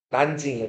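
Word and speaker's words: 南京: 남경을 중국어로 읽으면 뭐라고 읽까요? 난증이에요. 난증.이 건강이 어디라고요?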